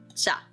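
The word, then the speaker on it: 茶: And it's pronounced cha. So we have the chi sound and then the little ah sound.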